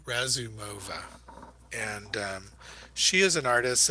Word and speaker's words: Razumova: See if I can say her name right. Uh, Ramu, Ramuzova. Well, I was saying it right earlier today, but you're just going to have to forgive me. Um, yes, sorry, Razumova.